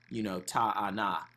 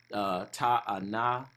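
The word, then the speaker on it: תאנה: So it wouldn't even have made, it would be, ta'ana. So it wouldn't be any A-E-I-O-U. We would just pronounce how we were learned to pronounce the characters, if that makes sense.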